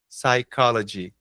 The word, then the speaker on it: psychology: psychology que é isso Professor P tá psai p não psych psychology psychology ah helps to